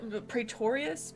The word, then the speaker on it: Praetorius: isn't it pretty taurus it's close yeah it's really cool it's p-r-a-e you have the yeah you're missing like a syllable i know praetorius you got the beginning the beginning and the end correct i can't even control